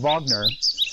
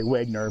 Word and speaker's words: Wagner: the famous composer Richard Vagner and you know what I'm talking about because I pronounce his name correctly most people say Wagner but no it's Vagner and the funny thing